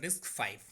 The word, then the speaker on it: RISC-V: RISC-V is pronounced as a RISC-V.